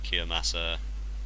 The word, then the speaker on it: Kiyomasa: Hideyoshi's personally trained generals Ishida, Matsunori, Katao, Kiyomasa, Ishida, not Kiyomosa, Ishida.